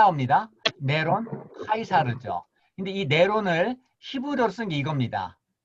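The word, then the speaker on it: Νέρων Καῖσαρ: 네로를 네로를 뭐냐면 이제로 네로를 헬라 발음하면 네론 카이사르 든요 네론 카이사르 네론 카이사르는 헬라 네론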